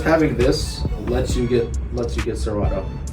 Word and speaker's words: Serato: Like, Just having this lets you get Serato.